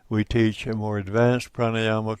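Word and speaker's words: prāṇāyāma: made of two words, if the first word ends in A and the second word begins in A, one A is silent. So it is not pranayama, it's pran, which implies life force, and ayama, not controlled.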